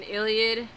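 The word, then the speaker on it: Iliad: Miller and this one is kind of an Illiad that's how you pronounce it retelling so basically if you know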